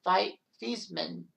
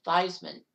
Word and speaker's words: Theismann: And that's where they decided to change the pronunciation's last name from Theismann to Theismann, to try to get him the Heisman in his senior campaign.